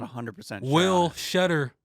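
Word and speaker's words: Tschetter: Will Shetter, I think, but it starts with a T. T-S-C-H-E-T-T-E-R. It's just confusing. No point of a T. Some silent letters just don't need to be in words or names.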